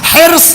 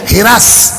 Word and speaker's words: حرص: ایک لفظ بولا جاتا ہے اردو میں جو لکھنؤ کا تلفظ الگ ہے، ہم لوگوں کے دیہاتوں کا تلفظ الگ ہے، لغت میں الگ ہے. حرص، حیر صاد. آپ کی سسرال لکھنؤ کی آپ کو پتا ہوگا. حرص یہ ہے اصل تلفظ. لکھنؤ چلے جائیے ہرس. ہم لوگوں کے دیہاتوں میں چلے جائیے اسی زبر کو زیر لگ جاتا ہے.